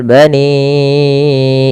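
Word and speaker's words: بني: Kemudian pada lafal bani Israila, pada lafal bani ini panjangkan suara ni-nya sepanjang 4 atau 5 harakat.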